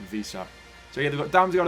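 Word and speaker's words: Wissa: And the forward line of Mbuemo, Tony, and Visa. That's how you pronounce it, I think. Visa.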